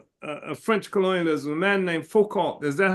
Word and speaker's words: Foucault: One of the leaders of French colonialism, a man named Foucault. Is that how his name is pronounced, Carmen Louise?